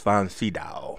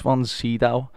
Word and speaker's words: von Sydow: Max von Sydow. Max von Sydow.